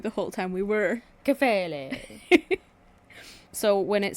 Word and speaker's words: Kephalē: in this, again, the Greek word here is Kephalē. Nice pronunciation. Thank you. It's like you listened to a video right before we started shooting. Well, I listened to you the whole time we were. Kephalē.